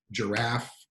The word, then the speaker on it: giraffe: that has stress, like giraffe, giraffe has a stress on the second syllable. We don't stress the first syllable, or it's on like giraffe. So we don't say giraffe or giraffe, we say giraffe.